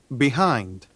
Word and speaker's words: behind: Behind. 자, 우리가 behind 그러는데 B는 잘 소리가 나지 않아요. 그래서 이게 바로 슈아라고 보시면 되겠습니다.